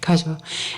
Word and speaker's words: Kazuo: Okay, Kazuo.